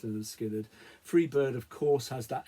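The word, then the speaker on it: Lynyrd Skynyrd: skinnard from their debut pronounced Leonard skinnard Freebird of course has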